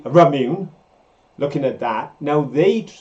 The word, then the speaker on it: Ramune: reason we've called it ramoon is because we've looked at r-a-m-u-n-e and pronounced it in a european way and said ramoon but i've been doing